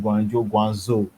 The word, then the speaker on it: Guangzhou: which is wrong for example we have um guangzhou which i've i see a lot of english speakers calling guangzhou you won't see um bbc broadcasters and even